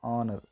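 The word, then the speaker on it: honour: can use an here H was silent so we can use and watch and honor I was never given so great and honor we are we already discussion H is silent so we can how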